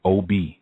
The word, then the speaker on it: Obi: The divination system that's taught in there is the OB divination system. That's spelled OBI, and it's Yoruba based, and it's a system where it's often misrepresented.